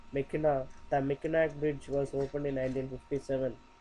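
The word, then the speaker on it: Mackinac: the bridge layout next one is mechak Bridge pronounced like Meo the meak bridge was opened in 1957 and connects the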